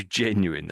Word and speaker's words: genuine: So, I think they're saying there's emphasis here back here on the e really.